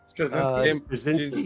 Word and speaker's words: Straczynski: And Michael Straczynski. No? Is that how you say it? Straczynski, yep.